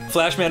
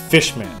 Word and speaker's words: Flash Man: Fishman. Fishman? No! It's Flashman! You know, rhymes with Crashman.